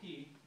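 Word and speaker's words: caye: Tobacco Key, that's spelled C-A-Y-E. If you ever see it, I always was saying K, and they said, no, it's Key. That's how we say it's Key.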